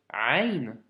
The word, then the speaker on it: ع: de te dire que le son doit venir du milieu de la gorge, d'accord? Donc c'est un son qui n'est pas forcément évident à prononcer. Donc c'est le son Ain.